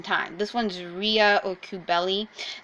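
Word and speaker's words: Cybele: This one's Rhea or Kubeli. Most people pronounce that Kybele, but it's actually closer to Kubeli.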